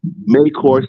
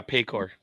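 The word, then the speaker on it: Paycor: of four and three they'll be playing at mayor Stadium if I'm pronouncing it right it's yeah payor yes payor excuse me payor you're all right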